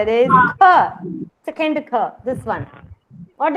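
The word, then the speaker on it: ख: Kha. How will you pronounce kha? Kha, not blank. You should not say it blankly like kha.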